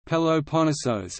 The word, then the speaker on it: Πελοπόννησος: The Peloponnese, or Peloponnesus, Greek, Peloponnesos, Peloponnesos, Greek pronunciation, Peloponnesos, is a peninsula and geographic region in southern Greece.